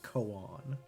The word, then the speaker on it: koan: Is it actually 2 syllables? You've seen ice cream koan jokes. That sounds about right, actually. So not cone and not quan, but koan.